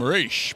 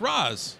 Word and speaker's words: Ra's: I spoke to an Arab kid who was 16 years old at a comic book convention. I said, is there anything in the Arabic languages that would make me want to say Ra's? She says, no, it's Ra's.